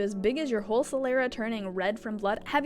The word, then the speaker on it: sclera: It's pronounced sclera.